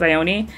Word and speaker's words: Ione: depending on my mood i say her name two different ways because i've seen someone say it was ioni but i think i own sounds better uh we're gonna take